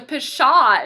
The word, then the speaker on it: pshaw: this word here so pshaw is spelled PS h aw pshaw you got that aw sound that ah on the end so pshaw is a